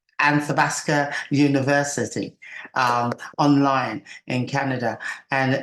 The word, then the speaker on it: Athabasca: Listen, I am so pleased and honored to be given this opportunity, and I'm going to pronounce it right. Athabasca University, online in Canada.